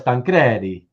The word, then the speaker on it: Tancredi: Number one is the correct Italian pronunciation. Yeah, of course, Tancredi, but it's been pronounced as number two my whole life. Oh, so your whole life people say Tancredi. Interesting. Okay. But I'll say Tancredi because it should be Tancredi.